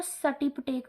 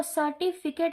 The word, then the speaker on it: सर्टिफिकेट: हम बच्चे जो है सर्टिफिकेट को सर्टिपिटेक बोलते हैं। अब देखो सर्टिफिकेट है भाई, सर्टिपिटेक नहीं है।